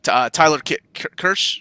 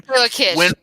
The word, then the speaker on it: Taylor Kitsch: Tyler Kirsch? Is that how you say his name? Taylor Kitsch.